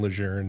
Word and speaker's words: Lejeune: that told me or he would kept saying Lejeune and I was like I finally asked him like "Sir, why do you why do you say it like that?"